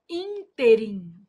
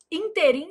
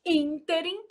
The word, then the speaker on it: ínterim: A palavra interim apresenta erro de prosódia quando pronunciada como oxítona. O povo vai lá e fala assim: Ah, nesse inteirm, inteirim, gente, é moço de 50 anos, de 60 anos, com a barriga sarada.